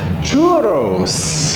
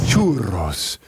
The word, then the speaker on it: churros: Churros. Churros. It's got two Rs. Roll your R, man. If you're going to do churros.